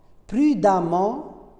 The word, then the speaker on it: prudemment: Et ce E, on va le prononcer A. Prudemment, évidemment.